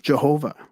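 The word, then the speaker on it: יהוה: The Tetragrammaton, or the 4-lettered name of God, written thus, is pronounced Jehovah.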